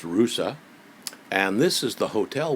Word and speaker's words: Ruse: city called arusa it's spelled r u e pronounced rousa and this is the hotel we stayed at